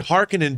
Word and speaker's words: Harkonnen: it from the family harkonnen oh i've always said harkonnen but but apparently they say harkinin but the the they say harkonnen in in david lynch's dune right but then pronunciations